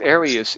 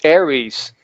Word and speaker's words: Aries: And then I had an English guy, Ian Perry, sing the chorus, and he said it's not pronounced Arius, it's Aries.